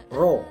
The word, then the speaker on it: Rho: Kita akan membahas pada pagi hari ini adalah uji korelasi Spearman atau yang disebut dengan korelasi Rho. Ini membacanya adalah Rho.